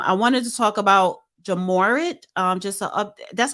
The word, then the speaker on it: Ja Morant: the show um I wanted to talk about jamorat um just uh that's how you pronounce his name the basketball player jamorant John